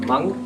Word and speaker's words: Hmong: which ethnicity are you I am Punk that's HM ong silent H pretty cool and a